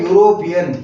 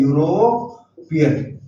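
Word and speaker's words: European: आया हुआ है ई, लेकिन अंग्रेजी में कुछ शब्द ऐसे हैं जहां पर जो है वावल है वो साइलेंट रहते हैं और वो कॉन्सोनेंट्स की तरह बोले जाते हैं। तो जैसे ये लिखा हुआ है यूरोपियन, यहाँ पर ई जरूर है लेकिन इसको लिखा जा रहा है यूरोपियन।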